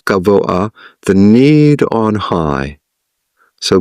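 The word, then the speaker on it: גבוה: It's often pronounced gavoha, but it's really tzorech gavoah, the need on high.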